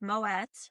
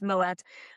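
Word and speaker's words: Moët: It's Moet. There was actually Saturday Night Live skit about that. It's Moet.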